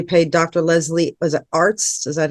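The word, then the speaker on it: Arzt: that's when you paid Dr Leslie was it Arts is that how you pronounce it Arts yeah all well there was some ARS ARS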